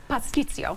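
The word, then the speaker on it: pastitsio: Pasticcio. Pasticcio. Okay, so you do pronounce the T.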